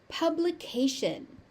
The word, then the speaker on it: publication: Publication. Publication. The T-I is pronounced as a sh, and this is something